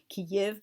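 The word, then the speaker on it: Kyiv: it Tsarsko Selo, and the way I originally saw Ukraine's capital transliterated, it made me want to pronounce it Kiev. And I realize many people now, including my own father, they think that's how the name is pronounced because ignorant newscasters use that pronunciation. It's Kiev, but just again getting kind of off topic.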